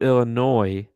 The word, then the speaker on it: Illinois: So salute Illinois for those jerseys. It's pronounced Illinois. I don't support the French.